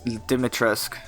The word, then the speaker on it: Dimitrescu: Lady Dimitri? Dimitrescu. I don't think that's right. It definitely is. It's just without the French accent.